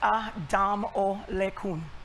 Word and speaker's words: Adamalakin: I'm Adamalakin. For those of you who are trying to figure out how to pronounce that wonderful name, it's pretty phonetic. It's Adamalakin.